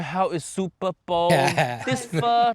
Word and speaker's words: Pho: which actually fa PA it should be called fur correct it pronounced fur like how is Jamie